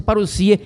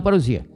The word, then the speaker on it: parusia: Parsia, pronúncia paruoia e não paroia.